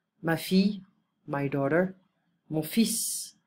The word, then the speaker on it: fils: Mon fils, we don't pronounce the L. Mon fils, my son.